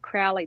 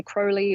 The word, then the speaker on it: Crowley: British people might say Crowley or something a little different but I'm going to keep tripping over myself I think all the magic people will say cruy rhymes with holy cuz I think that's